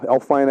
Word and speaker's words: Elflein: I believe that's how Elflein, I think, is how it's pronounced. And the Vikings also did some other trading.